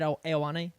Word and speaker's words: Ioane: That's just Ioane. the pronunciation. That is the pronunciation. There will be no other pronunciation.